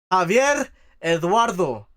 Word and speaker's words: Javier Eduardo: Javier Eduardo. That's how you say it.